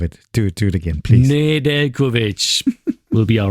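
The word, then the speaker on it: Nedeljković: Where he explained how it's the correct pronunciation from Nedeljkovic because the the J is it's like you don't hear when you pronounce the name.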